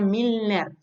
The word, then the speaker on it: Milner: Es importante aclarar que él es un autor que se escribe Milner, ¿no?